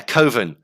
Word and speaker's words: Coven: Yeah, Coven. Like, why don't you call it Coven? Well, that sounds stupid. That sounds like an oven. It's like, but that's how that's how you say it.